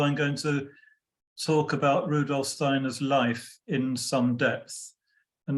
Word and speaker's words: Rudolf Steiner: right um a couple of things I'm going to refer to to him as Rudolph Steiner which is the kind of anglicized pronunciation if you if you move in more Germanic Circles of course they'll say Rudolph Steiner which is the correct pronunciation but I'm going to